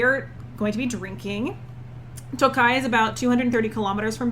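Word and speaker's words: Tokaj: because they're all babies it is from tokai which is spelled t o k a j sometimes there's an eye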